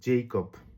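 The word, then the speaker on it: Jakob: যেমন আমরা ইংরেজিতে একটা নাম জানি জেইকব। জেকবকে যদি আমি ওয় এর মত উচ্চারণ করি যে এর উচ্চারণটা তাহলে কি হয়? ইয়াকুব মানে ইয়াকুব এরকম হয়। মানে ইয়াকুব যে নামটা ওইটাই হচ্ছে ইংরেজিতে আমরা জেকব উচ্চারণ করি।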